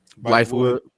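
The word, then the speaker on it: Bythewood: Blythewood.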